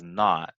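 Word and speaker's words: naught: That little zero, we pronounce it as not, but it's this not. Okay, not.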